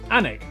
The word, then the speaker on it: Alnwick: Alnwick, which is near Newcastle.